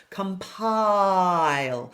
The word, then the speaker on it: compile: Compile. So I'll lengthen the initial vowel compile because it has to rhyme with smile.